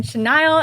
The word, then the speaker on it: Chenaille: everyone it's I'm here with Karen chenile and today we are talking about the realtor